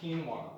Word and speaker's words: quinoa: How many people voted for quinoa this time? It's called quinoa.